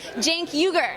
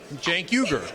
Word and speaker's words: Cenk Uygur: It's Cenk, like short for Jenkins, yes. Cenk. Then Uygur, Cenk Uygur.